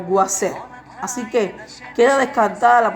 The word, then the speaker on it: Isis: La pronunciación de Isis no era Isis, era algo como Guaser.